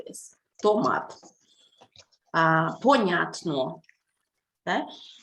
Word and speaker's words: Понятно: Понятно. Okay? So that's why stress, понятно, it's a 3-syllable word. 3 vowels in here. Понятно. Понятно. Понятно. And stress is in the middle on the sound ня.